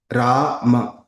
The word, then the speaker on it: Rama: Rama, long vowel A.